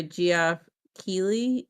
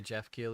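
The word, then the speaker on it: Geoff Keighley: If it's not a video, yeah, just uh So, it was a post by Goff Keley. I think that's how you say his name. Yeah, Jeff Keley.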